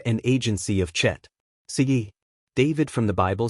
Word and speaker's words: chet: Now, the letter chet, which is pronounced with a guttural sound from the throat, or as it is